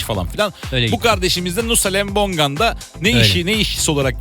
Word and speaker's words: Nusa Lembongan: Doğru mu telaffuz ediyorsunuz? Doğru. Nusa Lembongan.